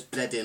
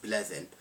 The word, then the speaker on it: Bleddyn: this maybe confuse you it says bled in on the bottle uh the Welsh are a bit odd and that actually is pronounced bleving so there you go um